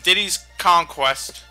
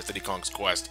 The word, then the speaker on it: Diddy's Kong Quest: diddy's conquest yes and i had to stop a bit to pronounce that properly yeah every one of the grandmother always pronounced it a city kong's quest but nope you're wrong everyone was wrong matt your childhood is